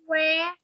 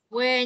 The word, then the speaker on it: were: Ok, các bạn ơi, từ từ nha, cô sẽ sửa cho các bạn cách đọc cái từ này nó sẽ phải đọc là were. Not where nha. Where sẽ là từ này này. Còn từ này sẽ là were, đúng rồi.